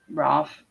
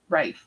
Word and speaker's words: Rafe: the hallway what happened ralph you look dazed rafe that's how i used to say his name what happened rafe you